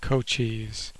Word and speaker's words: Cochise: That's the way you pronounce it, by the way, base Cochise.